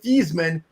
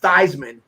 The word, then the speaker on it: Theismann: He's the guy that changed the pronunciation of a guy from Joe Theismann to Joe Theismann. So it was Theismann for Heisman, and Joe finished second in 1970 in the Heisman to Jim Plunkett from Stanford.